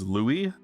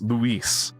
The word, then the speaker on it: Louis: And then it turns out it's spelt the French way, but it's pronounced the Spanish way. So it's Luis.